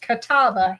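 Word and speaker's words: catalpa: If you do not know what this is, it is a kapa tree or pronounced kataba here in Alabama.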